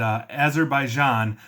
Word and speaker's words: Azerbaijan: And Azerbaijan is how you pronounce that country, and I apologize.